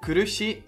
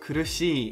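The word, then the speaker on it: 苦しい: kurushi which means painful here the syllable she is prolonged by the following syllable e so it's not kurushi but kurushi or in the word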